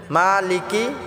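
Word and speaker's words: مالك: হবে আর রাহমানির রাহিম মালিকি ইয়াওমিদ্দিন মালিকি মাটা আমরা এক আলিফ টেনে পড়বো মালিকি ইয়াওমিদ্দিন দিনটা আমরা তিন আলিফ টেনে পড়বো অনেকে আছে মালিকি কি টান করে এটা টান হবে না মালিকি ইয়াওমিদ্দিন ইয়াকা নাবুদু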